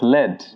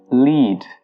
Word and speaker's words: lead: But if you're using the verb form of this word, you pronounce it as lead with a long E.